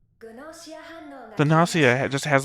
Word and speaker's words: Gnosia: The Nasia just has like a That was a hard G I heard there. Gossia.